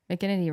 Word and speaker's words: McGinnity: rhymes with lemur and mcginity rhymes with virginity and people love that